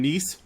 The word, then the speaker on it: Nice: He's from Nice.